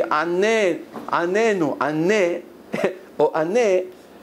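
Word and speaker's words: עננו: So they write in the Sidur, make sure you don't pronounce the Anenu with the Dagesh, because the difference between answer us and torture us is only the accent.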